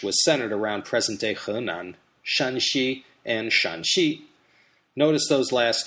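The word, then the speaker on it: Shanxi: the pinin system of romanization but one is pronounced shanii that first tone first tone and the other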